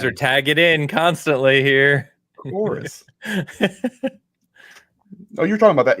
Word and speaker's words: Chorus: Did you say Corvus? Yeah. And I love that people pronounce it that way when they read it. And I'm like, play this. You guys are tagging in constantly here. Chorus.